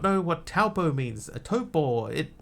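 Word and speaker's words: Taupō: And the preferred pronunciation is Topo now. It used to be Taupo. Now it's Topo.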